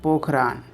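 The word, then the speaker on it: पोखरण: राजस्थान का एक जगह है पोखरान, या फिर पोखरन भी प्रोनाउंसिएट कर सकते हैं।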